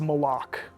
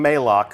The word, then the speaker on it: Malok: absence has left uh and that is malok malok right official pronunciation confirmed so if you hear anybody saying maok send them right here to the archive of this stream our design leaders told us it's Mok we actually have a